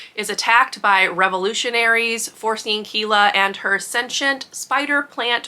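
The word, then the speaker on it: Kiela: to say her name I'm saying it as Kela it's k i e l a but anyway she is a librarian and her city is attacked by revolutionaries forcing Kila and her sensient spider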